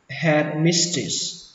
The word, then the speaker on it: headmistress: Bà hiệu trưởng thì các bạn đọc là headmistress. Headmistress. Âm ở đây là âm i, ghi là e nhưng đọc là i.